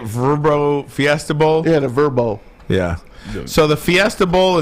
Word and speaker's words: VRBO: Yeah, the Verbo.